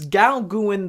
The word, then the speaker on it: Gauguin: I believe I'm pronouncing that correctly, but it's Gauguin, the Voyage to Tahiti.